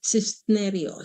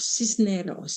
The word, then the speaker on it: Cisneros: Okay, now our next one is Evelyn Cisnerios. Cisneros. Cisneros. I hope I pronounced it right.